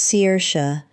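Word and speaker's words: Saoirse: Yes, it's Irish. Yes, it's pronounced seers.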